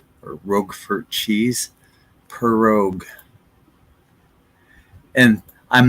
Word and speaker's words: prorogue: So here's the official pronunciation of this word, prorogue, or like like a cat, rogue, like a rogue wave, or rogue for cheese, prorogue.